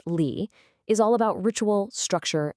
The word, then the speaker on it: Li: Li, it's pronounced Li, is all about ritual, structure, and discipline.